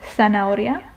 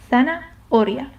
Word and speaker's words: zanahoria: You pretend like it's not there and you go on with the with the rest of the word. Zanahoria.